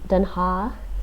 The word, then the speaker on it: Den Haag: Den Haag is how it's pronounced in Dutch.